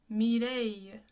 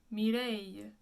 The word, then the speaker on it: Mireille: It's actually pronounced Mireille. Mireille.